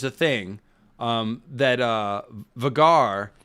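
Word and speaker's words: Vhagar: thing um that uh vegar is correct vegar is the correct way to say it um i will not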